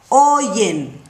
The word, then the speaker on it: oye: Oigo, oyes, oye, oímos, oyen. Yeah? Now here in this conjugation, you have a Y. You have to pronounce the Y. Oye, yeah? Oyes, oye, ye, yes, like you saying yes.